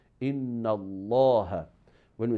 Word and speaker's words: Allah: So if that one has fatha or dhamma, so the word of Allah will be pronounced with the quality of heaviness. Like for example, when we say Inna Allah, when we say Inna Allah, so in that case,